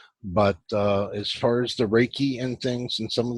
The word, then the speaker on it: Reiki: is a why so Reiki pronounced like ray and key and ice I definitely